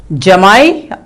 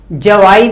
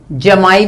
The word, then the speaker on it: जमाई: बहू daughter in लॉ, जमाई या दामाद सन इन लॉ. कई लोग इसको जवाई भी बोलते हैं, जमाई भी बोलते हैं. थोड़ा सा वेरिएशन है प्रोनाउंसिएशन, उच्चारण में.